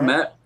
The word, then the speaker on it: Kmet: Cole Kmet. Kmet?